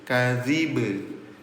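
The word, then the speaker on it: الكذب: Ketika bnya disukunkan terjadi hukum tajwid yang namanya qol qalqalah. Cara bacanya PTL apa itu? Pantulkan. Jadi bacanya pantul kadib. Kadzib.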